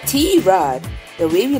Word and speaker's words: Tirade: And mind you, it's not pronounced tirade or T-Rade, but T-Rod.